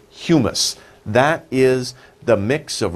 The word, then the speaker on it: humus: hue mus two sounds two sounds hue mus humus so we say humus that is the mix of rotting stuff and